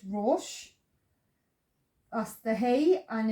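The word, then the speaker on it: ראש: The dot to the top left is the O vowel, so sounds as O. So ro. The aleph is silent, so you look to the next letter, which is the sheen, which is sh. There's no vowel underneath, so it closes, so it's rosh.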